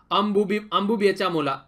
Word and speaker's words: अंबुबाची मेला: अंबुबेचा मोला तो मतलब पूरा है अंबुबाची मेला, ठीक है, ये इसकी सही प्रोनाउंसिएशन है।